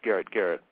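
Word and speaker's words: Garet Garrett: his name is pronounced Garrett Garrett that's correct as in attic because that's what a garrett is an anglo-saxon but he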